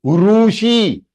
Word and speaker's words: ऋषि: वन ऋषि, इट इज ऋषि, ऋतु ऋषि। इस तरह pronunciation में डिफरेंस है, ये री नहीं है। काफी लोग कैसे प्रोनाउंस करते हैं, रीतु और ऋषि, wrong. It इज not Sanskrit, it is Hindi.